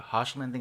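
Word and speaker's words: Hoechlin: impressed me the most because it's by Tyler harsh lending as he's that's how his last name's pronounced but he's also like he's also playing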